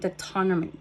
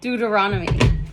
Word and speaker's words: Deuteronomy: It shows here Exodus, Numbers, and Deutonomy the Deuteronomy. Deuteronomy. I I really want to look this up because I don't like mis pronouncing words. Deuteronomy. Dut Deuteronomy. Deuteronomy. Deuteronomy.